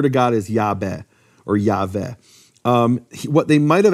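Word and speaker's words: Yahweh: he will be um but yve actually would be pronounced in certain periods of history of Greek as iave well a could be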